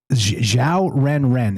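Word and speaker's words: 小人: And xiao ren. It's XIAO ren, and just like it sounds.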